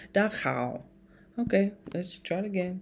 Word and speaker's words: Dachau: Dachau. I was saying it so wrong. Because when you see CH, you just want to everything. Dachau.